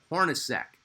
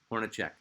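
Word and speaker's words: Hornacek: Jeff Hornosk. Yes, it's spelled Czech, but it's pronounced Sack.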